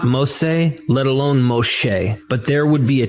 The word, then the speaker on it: Moshe: First, Moses is not how to pronounce the name of the Hebrew liberator. Instead, his name is pronounced as Moshe. Notice the sh sound in his name. That is not found in the names of Ahmose or Ramesses, which have an s sound.